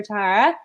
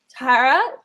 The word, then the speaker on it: Tara: bit about you so Tara I apologize if i'm pronouncing your name wrong i know it's like terra terra cotta it my brain Butler's block